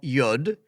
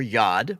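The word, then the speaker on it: יוד: we would think of as Y is called yud or yod y o d it's how we put pronounce it and the yud is also the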